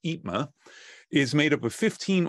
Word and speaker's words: EIPMA: industry professionals mentoring Alliance which I have been told is pronounced itma is made up of